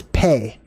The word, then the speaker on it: Pe: the teaching all right pay oh it's pronounced P also this one's really